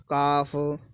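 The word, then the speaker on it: calf: देख लेते हैं जैसे कि should, should, could, हाफ, काफ, पॉम, arms. तो जिसमें जब भी एल आ रहा हो तो ये हमारा बोला नहीं जाता।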